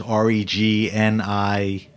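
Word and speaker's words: Régnié: Now, Renier is Regne. With an accent on the last E there.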